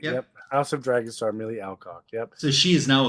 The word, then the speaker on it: Millie Alcock: I think it's Millie Alcock. You're right. Yep. House of Dragon star Millie Alcock.